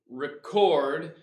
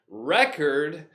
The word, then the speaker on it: record: recorded a record to record remember two syllable verbs if the noun stress on the first syllable a record and with the verb to record stress on the second syllable surgeon a guy who's